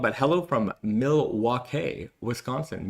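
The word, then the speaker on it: Milwaukee: I'm sure I'm I don't know I'm saying that right or wrong, but hello from Milwake, Wisconsin. Miluake. Uh that's the pronunciation. I learned that from Wayne's World.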